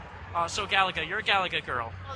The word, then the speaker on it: Galaga: Galactia? I was like, what is it, Galactia? What do you call it, Oh, there's a Galaga? lot. What was it, Galactia? Galaga.